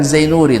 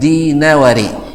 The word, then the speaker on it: Dinawari: bacanya bukan Zainuri dan bukan Dainuri, tapi Dinawari.